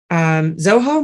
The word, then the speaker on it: Zoho: Email is taylornorris at Zoho Mail. Is that how you pronounce it?